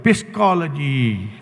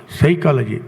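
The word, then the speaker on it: psychology: ತರ ಉಚ್ಚಾರಣೆ ಮಾಡಬೇಕು ಅಂದ್ರೆ ಪಿಸ್ಕಾಲಜಿ ಯಾರಾದರೂ ಪಿಸ್ಕಾಲಜಿ ಅಂತ ಹೇಳ್ತಾರಾ ಯಾರು ಹೇಳೋದಿಲ್ಲ ಸೈಕಾಲಜಿ ಪಿ ಏನಾಯ್ತು ಸೈಲೆಂಟ್ ಯಾಕೆ ಸೈಲೆಂಟ್ ಯಾಕೆ ಸೈಲೆಂಟ್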